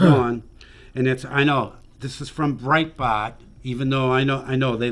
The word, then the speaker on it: Breitbart: How do you pronounce it? What? Breitbart? Breitbart. Breitbart, yeah.